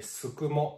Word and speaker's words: 宿毛: 宿毛市、宿に毛と書いて宿毛と読みますが、この